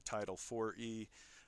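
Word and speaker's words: Title IV-E: This started in '97 with the Title IVE, otherwise pronounced the Title 4E, adoption subsidies that crooked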